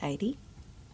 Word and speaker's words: Eide: Hi, I'm Eide. Is that how you say it? Yeah. I never knew. It's like Heidi, but no H.